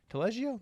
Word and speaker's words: Taleggio: So, Angelia has truffle mushroom, Taleggio, Taleggio? That's how you pronounce it, and Fontina cheese, and white truffle oil.